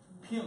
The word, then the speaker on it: Ping: Ping like a ping pong, the first word of ping pong.